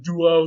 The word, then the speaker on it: duo: not only that but there's a wah sound right after it they spell it with a u and not a w but duo duo very similar to proto-germanic